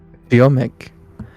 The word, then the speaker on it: Ziomek: Ziomek. What was that? Because it's like the Z I is like connecting into like one sound, so it's Ziomek.